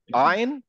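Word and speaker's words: ع: ভিতরে এইটা থাকে এখানে যখন আমরা আইন উচ্চারণ করি ইট মুভস লাইক দিস এটা দেখেন এখানে ছিল এখান থেকে সরে এই পিছনের ধাক্কার কাছাকাছি চলে যায় যখন পিছনে যায় তখন এখান থেকে সাউন্ডটা বের হয় তো আমি যদি আ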